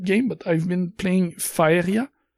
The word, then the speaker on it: Faeria: but I've been playing Faeria. That's how I would pronounce this in French. Pretty similar in English. Faeria.